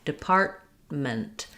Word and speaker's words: department: So I have stress on the part syllable, depart, but I'm not really letting that T out or this T, department.